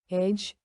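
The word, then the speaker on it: edge: उदाहरण ब्रिज ब्रिज, एज एज, sandwich sandwich.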